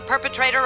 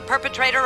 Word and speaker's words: perpetrator: And what happens is it turns into a flap T, which sounds like a soft D sound.